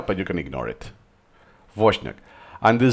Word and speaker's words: Wozniak: add a schwa and then the name it's Wozniak is pronounced if it was just a V then the "I" is not... is ignored so okay it's there but you can ignore it. Wozniak and the Z yeah is a slightly different